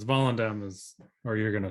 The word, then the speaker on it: Volendam: So it's Volendam. And I listened to the Dutch pronunciation a few times. So it's like Volendam.